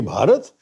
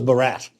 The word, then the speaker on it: Bharat: One name that has the internet go bonkers is Bharat Assachi. Do you stand there? That's where I absolutely insist. When I speak in Hindi or Mallayalam, I say Bharat and when I speak in English, I say India.